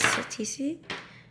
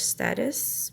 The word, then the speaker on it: statice: got the sun kiss TC from fact I didn't know that that's how you pronounce the TC cuz I always thought it was status but yeah I had